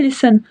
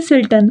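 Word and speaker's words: listen: तो ये है लिसन। तो यहां पर टी रहेगा साइलेंट क्योंकि हम लिसन कहते हैं ना कि सिल्टन। ओके?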